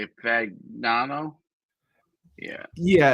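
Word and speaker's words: Fagnano: Fagano.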